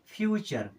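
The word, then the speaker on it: future: टी यू आर ई अब देखिए टी के बाद में यू आरई आया यानी टी का उच्चारण करेंगे च की तरह अब टी यू और ई के साथ मिलकर के बनाएगा चर उसके पहले क्या लिखा है एफ यू क्या हो जाएगा फ्यूचर क्या होगा फ्यूचर फ्यूचर मीस भविष्य होता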